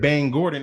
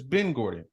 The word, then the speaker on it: Ben Gordon: The basketball player name ain't Bang Gordon. It's Ben Gordon. Just like the Bengals.